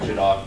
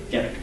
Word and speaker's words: Gedak: And is it Jadok? Gedek. Gedek. Okay. My apologies. That's okay. I knew I did not know how to pronounce that. So. Yeah. It seems to be a common problem. My inclination is Gedak, and that just didn't sound like a name, so Gedek.